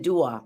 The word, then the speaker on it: Dwa: So that it would be pronounced like er. And then dua, praise or adoration.